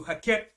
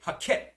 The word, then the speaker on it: Heket: fraud hen okay i'll spell it for you hakket it's spelled h e k e t this was the fraud god of fertility okay hakket the fertility god of egypt so the most